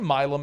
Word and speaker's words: Milam: Did they say Milam? Am I saying it right? They say Milam, yes.